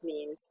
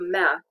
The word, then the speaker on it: mea: So we have ya in words such as vrea, she wants, or mea. I think we learned the possessive adjective, mama mea, my mother. And it's pronounced a little bit like the Y, the EA in ya, YEA in ya.